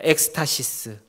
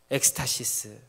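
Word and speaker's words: ἔκστασις: 자 여기서 놀라다라는 말을 헬라어로 굳이 찾아서 보면 발음이 이렇게 됩니다 엑스타시스 엑스타시스 혹시 뉴스에서 이런 비슷한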